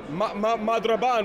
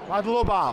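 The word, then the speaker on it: მადლობა: But I wish you madraban, which is thank you, yeah? Or how do you say thank you? Madloba.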